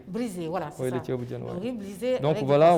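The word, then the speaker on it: thiéboudienne: En tout cas, dans les plats tellement connus du Sénégal, il y a le tchebdjen. J'ai bien prononcé là? Oui, c'est le tchebdjen.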